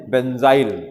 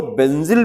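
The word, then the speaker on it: benzyl: एन जड वाई एल बेंजाइल इसी को बेंजिल भी कहते हैं बेंजाइल भी जो भी प्रोनंसिएशन करिए स्पेलिंग वही रहेगा बी एन जड वाई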